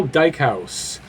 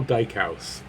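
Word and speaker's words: Dykhuis: cuz long video number 11 is defenseman Carl Dyke house you see their weight spelled some Rho u se but that's how you pronounce it he played here from 99 2000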